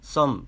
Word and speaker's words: thumb: 그리고 알파벳 THUMB는 알파벳 TH는 일명 번데기 발음으로 한글 자음 쌍시옷 정도로 그리고 알파벳 U는 한글 모음 어로 알파벳 M은 한글 자음 미음으로 물론 알파벳 B는 묵음이고 그럼 썸 정도로 발음하시면 됩니다.